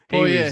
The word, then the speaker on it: Poirier: Poirier.